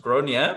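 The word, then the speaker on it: Gráinne: actually called it's pronounced gronia because it's of irish origin and so which actually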